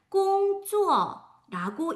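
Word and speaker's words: 工作: 읽을 때는 꽁어라고 읽고 그 뜻을 보면 명사와 동사의 역할을 둘 다 가지고 있어요.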